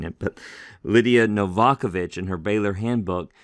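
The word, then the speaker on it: Lidija Novakovic: helpful little baylor handbook on the greek text lydia novakovich someone told me that's the way to pronounce her name i've been mispronouncing it but lydia novakovich in her baylor handbook says this is a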